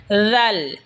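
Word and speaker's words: ذ: জিহবার আগা সামনের উপরের দাতের আগার সঙ্গে লাগা উচ্চারণ হবে জাল এই সা যেখান থেকে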